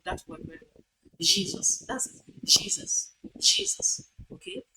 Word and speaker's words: Jesus: You have not pronounced that sound that word very well. Jesus.